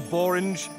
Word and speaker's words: Borange: It's a Borange. I made it up to be the first word to rhyme with orange.